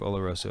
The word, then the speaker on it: Oloroso: Nice pronunciation of Oloroso, Adam.